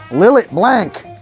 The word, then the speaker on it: Lillet Blanc: Lillet Blanc! We're gonna use 3/4 of an ounce of Lillet Blanc. That's for you pronunciation guys out there.